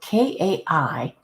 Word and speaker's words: Kai: Kaaya I'm still confused the AI part sounds like the letter I okay so k a i is pronounced Kai and this other name